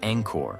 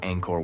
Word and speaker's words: Angkor: subtle differences that distinguish Angkor from its Western mispronunciation. They demonstrate that the first syllable carries the soft A of father, the nasal ng like in song, and the short clipped vowel of kor.